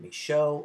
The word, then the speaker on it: Micheaux: Oscar Micheaux, the French pronunciation, Micheaux, or possibly Cajun, was a black producer, African-American producer, and filmmaker.